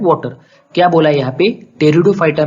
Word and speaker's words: Pteridophyta: example है profit कर दो कि दिग्विजय मिस्त्री टेरिडोफाइटा अभी यह क्या है जैसे मैंने आपको पहले